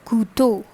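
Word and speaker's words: couteau: number three is so this e a u produces sound likes oh oh like this oh okay so the overall pronunciation becomes le kutto which means knife okay next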